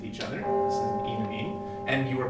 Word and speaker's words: enamine: is, but to me, the most logical pronunciation is enamine, because the EN here stands for alkene. You would pronounce it alkene, so it's logical to me to pronounce this enamine.